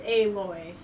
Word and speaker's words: Aloy: berries in your pouch it's pronounced like aoy only it's aloy so like if it's an L instead of an AG come sorry Rost I'm